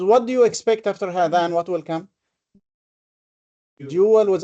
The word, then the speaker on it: هذان: But we also pronounce another alif after the ha. هذان. هذان. But we don't see it. And the similar thing is also in هذين. There is an alif that we do not pronounce, but it is there. We pronounce, but it is not written. In fact, it is longer than a fatha.